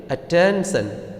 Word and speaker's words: attention: Similarly, attention. This word ends with TION, son. So, the stress will be on the 10.